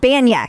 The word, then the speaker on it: Banya: Is it Bania or Banya? How do you say it? Banya. Kenny Yes. Banya.